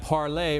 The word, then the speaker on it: Parlay: He was crowned Friday at Parlay, rhymes with Goulet, Bar and Lounge in Scott's Addition.